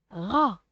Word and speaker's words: rat: Un rat. Je ne prononce pas la lettre T ici.